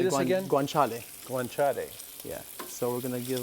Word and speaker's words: guanciale: the how do you say this again guanciale go on chatty yeah so we're gonna give like nice sear